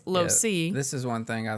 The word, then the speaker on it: LoSo: And so it's spelled LOSE. And so instead of it saying lose, it was LoSo.